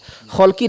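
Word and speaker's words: خَلْق: Kholki dengan khuluki itu beda harokat saja, hurufnya sama. Kho, lam, qaf dan ya nisbah terakhirnya. Kholki dengan khuluki, hurufnya sama tapi beda harokat, beda Kalau kholkun itu artinya penciptaan.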